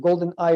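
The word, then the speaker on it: GoldenAI: developed the platforms of golden eye project and golden ai which pronounced golden eye is the platform that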